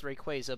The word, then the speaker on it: Rayquaza: It was called Rayquaza, and I know the pronunciation is Rayquaza, but I think Rayquaza sounds better, so I'm not going to change my way of saying it.